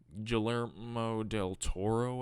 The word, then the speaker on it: Guillermo del Toro: yup on this viewing Guillermo del Toro I think it's pronounced I think that's how you pronounce doesn't have too much